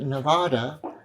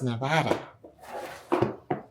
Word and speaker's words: Nevada: And if you're from England and you come to Nevada and you pronounce it Nevada, you are wrong. It's Nevada.